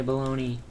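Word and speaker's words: bologna: good battle you yay baloney ow balone isn't it weird how it's called baloney but it's spelled like bagna what now BNA yeah b o l o g n a I like bacon me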